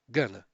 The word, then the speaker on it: going to: Ahn, isso pode ser um pouco informal, a pronúncia gonna, mas é a mais natural, a mais comum que existe para o inglês do dia a dia, tá bom?